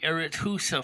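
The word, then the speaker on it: Arethusa: era who's uh farms i think that's pronounced with arithusa farms is also using the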